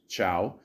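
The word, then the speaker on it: Chau: The film was also received Academy Award nominations for Best Supporting Actress, Chow. Okay, I literally just looked it up, and thank you, Google. Yes, it is pronounced Chow, so there you go.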